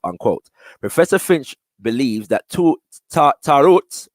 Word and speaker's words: tarot: Professor Finch believes that tarot, or I've also heard that pronounced taroret, yeah, which is imaged as